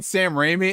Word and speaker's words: Sam Raimi: and i was like gabe don't you mean sam raimi and it was like glass broken his mind